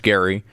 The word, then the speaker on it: Gerry: So it was actually different than the way his name was pronounced, even though it was named after him.